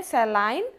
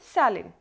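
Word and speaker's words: saline: अगर हम British English की बात करें तो इसे बोलते हैं सैलाइन, और अगर हम अमेरिकन इंग्लिश की बात करें तो इसको बोलते हैं सैलिन, दोनों ठीक है।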